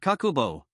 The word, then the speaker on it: kakeibo: In Japanese, that word is kakeibo, pronounced kakubo.